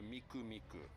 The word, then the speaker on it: Miku: nine three nine because three in japanese three you can pronounce it me nine is ku so miku miku ah mikomiku that's another